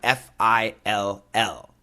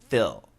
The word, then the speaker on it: fill: Now, the pronunciation is fill, fill, fill. Now, we have to understand there are two ways to pronounce the l. There's the light l and the dark l.